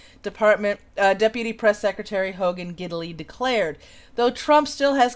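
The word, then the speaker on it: Gidley: news thing okay Hogan diddly yeah apparently that's his name giddily giddily gid l ey giddily but it does sound like diddly if you're not saying it correctly so yep there is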